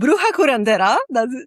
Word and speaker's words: Bruja Curandera: It's called Bruja Curandera. That's how you say it.